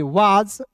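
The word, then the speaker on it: was: वा एस का उच्चारण दोस्तों यहां पे ज के रूप में करेंगे। वाज एम आई एम आई।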